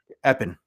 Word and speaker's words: Epping: It's in the woods to the point where they don't pronounce the G on the name in that town. Mm, Epping.